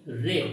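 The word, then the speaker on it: read: প্রথম আমরা লেট দিয়ে করতে পারি, হ্যাঁ, যে বইটি পড়ো, তাহলে বলতে পারি লেট the book be রেড, এর উচ্চারণ কিন্তু রেড হবে, হ্যাঁ, রেড, ঠিক আছে।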